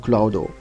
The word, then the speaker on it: Cloud: Also Cloud auch, nur wird's ausgesprochen Cloudo.